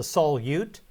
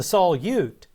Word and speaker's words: solute: Every solution in chemistry has a solute and a solvent. The solute is what is dissolved in the solvent. By the way, note that the word spelled S-O-L-U-T-E is pronounced solute and not solute.